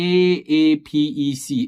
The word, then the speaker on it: APEC: okay APAC business travel card uh is is pronounced as a sorry it's uh okay let me see you okay it's called a a p e c Apec business travel card okay uh short form